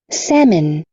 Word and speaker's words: salmon: salmon, Salmon. Salmon. several, Several. Several. Duas sílabas só, não é several, é several.